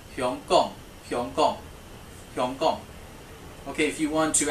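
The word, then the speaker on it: 香港: Okay, Hong Kong is pronounced Hyong Kong.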